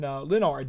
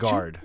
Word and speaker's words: Lingard: they just brought in lonard the other day yes Lorenzo lonard um and so that's lingard lingard lingard I forgot the G well sometimes you know that's silent G for a lot of names whatever uh lingard yes